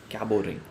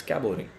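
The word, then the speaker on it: Cabot ring: we call this a cabo ring right cabot or cabo t is silent it's caboring caboring you see them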